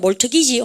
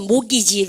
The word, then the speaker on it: mortgage: In making mortgage loan, 올반 몰트기지 혼납니다. 바로 그러니까 mortgage, 올반요 모기지 론, 그죠? 그러니까 T 발음 무음인가 아시죠?